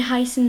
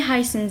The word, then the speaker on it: heißen: La première, c'est Wie heißen Sie? Je vais l'écrire ici. Wie heißen Sie? S7, il se prononce 2 S, ok?